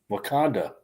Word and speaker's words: Wakanda: I stopped now that's why I lost it's pronounced wakan okay wakanda I can barely pronounce English okay how about